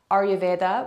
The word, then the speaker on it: Ayurveda: But again, Ayurveda, egg on the end. Actually, many people pronounce that Ayurved.